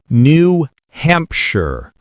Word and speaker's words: New Hampshire: New Hampshire. The sh becomes sure.